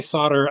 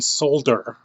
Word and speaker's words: solder: uh when i say solder i mean solder i know that the the people in europe got pronounced they pronounce the l we don't do it in north america we just pronounce it solder and i know that